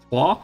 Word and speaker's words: Tours: Tours we can just leave. Trois, I think I've been told this is pronounced.